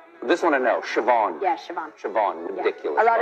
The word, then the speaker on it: Siobhan: that yeah uh how do you think that's pronounced this one i know siobhan yes siobhan ridiculous a lot of people say